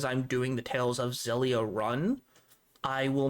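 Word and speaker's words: Xilia: And the last one is for the PS3, and it is a Tales of game called Tales of Zelia. I think that's how it's pronounced. X I L I A.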